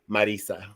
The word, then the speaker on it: Marisa: Spanish like that no even it's even if it's in Spanish it's Marisa all right whatever it's